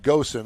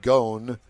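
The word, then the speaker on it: Ghosn: Nissan won the first round in its long brewing boat battle with former chairman Carlos I call him Gosen. I think it's pronounced goon admon about who rightfully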